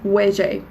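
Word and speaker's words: 危機: Now, in Cantonese, there are symbols, and when you put these two symbols together, they are pronounced as weje, basically.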